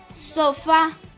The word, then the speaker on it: sofá: La siguiente palabra tildada, sofá, y es una palabra aguda, sofá, porque está tildada en la última sílaba.